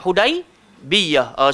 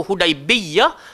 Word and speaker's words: Hudaibiyah: mana dengan kami dekat hudaibiyah saudara dua jenis bacaan satu hudaibiyah satu hudaibiyah cuma ramai yang lebih membacanya tanpa tasydid tapi kedua-duanya bacaan boleh dibaca ataupun hudaibiyah Oke jadi satu pagi